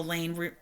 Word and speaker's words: Elaine: her I can handle Elaine rhymes with pain if you don't say